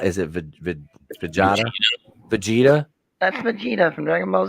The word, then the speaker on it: Vegeta: Is that pronounced Vegeta? Is it Vegeta? Vegeta? That's Vegeta from Dragon Ball Z. Vegeta.